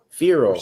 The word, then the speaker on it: Feral: Rhymes with peril. Feral.